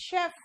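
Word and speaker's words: chef: अब आओ सी एच, ये भी श है, शेफ नहीं है ये, इट्स शेफ। क्या है? शेफ। ये भी श वाला प्रोनाउंसिएशन दे रहा है।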